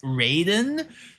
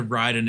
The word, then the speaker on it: Raiden: Um, actually, Raiden from Mortal Kombat is pronounced Raiden, which is always weird to me because you got Raiden in Mortal Kombat and then you've got Ryden in Metal Gear Solid. Also, Ryden is the actual pronunciation of it.